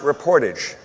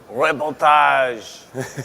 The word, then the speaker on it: reportage: settle this right now it's pronounced reportage reportage it's reportage Louisville here's your first